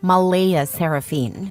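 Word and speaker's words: Mleigh Seraphynne: Claire insists it's pronounced Malaia Seraphine, but she's adamant about keeping the creative spelling because normal names are boring and my daughter deserves to stand out.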